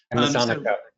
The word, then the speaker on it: Amazonica: So one of our clients here has an Amazon Nekia. I can never pronounce this right. Amazonica. The Amazonica. There we go.